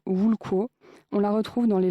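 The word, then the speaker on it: *wl̥kʷo: Tout commence avec une racine hypothétique, W-L-K-W-O, prononcée quelque chose comme Wulko.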